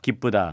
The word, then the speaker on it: 기쁘다: 기쁘다. 그렇죠. 우로 발음하신 겁니다. 예. 슬프다. 네, 슬프다. 이렇게 우로 발음하시는 거고요. 아하. 뭐 물론 이제 아주 이상하게 뭐 기쁘다 이렇게 발음할 필요는 없겠지만 네네. 발음하시다 보면 자연스럽게 우에 더 가깝게 발음을 하고요.